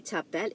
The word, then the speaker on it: t'appelles: Comment tu t'appelles, it means what is your name. Okay, tu t'appelles comment. Again, I repeat that again. The first one, comment tu t'appelles. Comment tu t'appelles. The S here is silent.